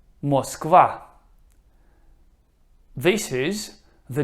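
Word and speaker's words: Москва: Moskva. Moskva. This is the name of the Russian capital, in Russian, Moscow. Moskva.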